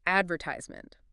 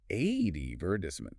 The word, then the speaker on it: advertisement: Like advertisement, we tend to stress the second syllable. Ad virt Well, in British English, it's typically stressed on the first advertisement or uh mobile.